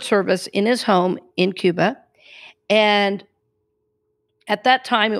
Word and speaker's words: Cuba: He was from Cuba, and his name was Cuba, which is the right way to say it. He taught me not Cuba, he would say Cuba.